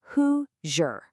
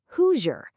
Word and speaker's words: Hoosier: Let's say that really slowly together, gently separating those syllables. Hoo-jer. Hoosier.